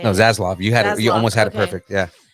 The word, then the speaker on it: Zaslav: Discovery chief David Zaslav. Almost had it perfect right I there. almost had it. How do you say No, it? Zaslav.